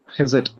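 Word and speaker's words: חסד: ஹெசட் அப்படி ப்ரொனவுன்ஸ் பண்ணிக்கலாம்.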